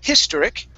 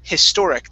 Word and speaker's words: historic: Instead of historic, it's historic. The stress is on the O-R.